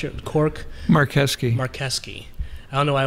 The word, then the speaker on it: Marcheschi: because it looks like mark cheshie or yeah yeah yeah yeah but in italian the ch is a k ah uh-huh yeah so